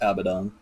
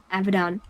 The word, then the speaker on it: Abaddon: woke up with them is that how you pronounce it yes abadan Abaddon hello there Zeke says I should ask more